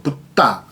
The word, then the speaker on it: 붓다: D-D-H 이게 그러니까 T 발음이 나는 거예요. 붓다. 받침 앞에 초금으로 하면서 T 발음을 만드는 거.